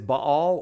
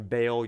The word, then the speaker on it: Baal: um is the one known as Bal or Bale I prefer the N uh the uh um pronunciation Bale you can call him ball if you want it really doesn't matter to me um but Bale is